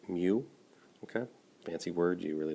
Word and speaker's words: mu: 72 up to 107 that U is actually pronounced mu okay Nancy words you really don't need to